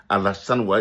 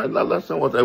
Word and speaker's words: Alassane Ouattara: C'était très difficile que pour lui de dire Alassane Ouattara. Il dit Allah, son, Ouattara.